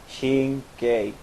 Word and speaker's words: Shink: to say my name is shin Shin like Charlie Shin like if you say k like like Mary or some like that shink that's how you say it shink